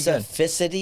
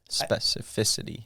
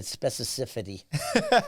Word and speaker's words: specificity: I mean that's that's pretty specificity is the right way to say it specificity I said specifity I'm telling you it's